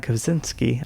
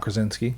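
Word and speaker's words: Krasinski: Don't forget about John Kazinski. I'm saying it wrong. John Krosinski. Yeah, you said it right.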